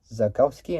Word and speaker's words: Zakowski: founded in 19 uh 1968 with Eric which is spelled e r I zakowski and then run by his son Peter zos